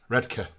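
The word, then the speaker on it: Redcar: is here from he's in redar which is pronounced redka redka is he is he rehearsing panto redka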